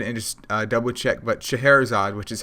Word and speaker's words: Scheherazade: i went ahead and just double checked but scheherazade which is how you say that name which wasn't how i was trying to pronounce it before google would it is a